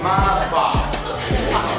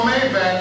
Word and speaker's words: Maybach: It's a Maybach. It ain't no Maybach.